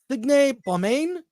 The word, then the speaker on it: Signe Baumane: introduce, and he is going to correct me on the pronunciation of her name, Signe Baumane.